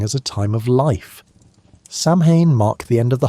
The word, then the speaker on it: Samhain: Samhain was a festival that people pronounced Samhain, like the female pig, not Samhain, which is what most people think.